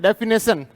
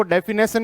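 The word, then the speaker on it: definition: इसको डेफिनेशन नहीं बोला जाता, इसको बोला जाता है डेफिनिशन।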